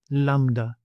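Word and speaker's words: λάμδα: Lambda, lambda. So it has the same sound as in English L, as in Lima and lamp, but the capital and the lowercase may not be familiar to you.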